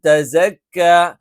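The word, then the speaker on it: تَزَكَّىٰ: ഇവിടെയും തെസക്ക എന്നായി പോകാൻ പാടില്ല, തസക്ക എന്നുള്ളതാണ് ശരിയായ ഉച്ചാരണം.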